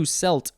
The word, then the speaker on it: celt: for the day that's celsius moving on to selt c-e-l-t noun from 1715 a prehistoric stone or